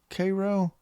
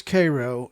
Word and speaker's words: Cairo: think in this case it is not pronounced like the egyptian city it is actually pronounced like the syrup karo syrup uh for whatever reason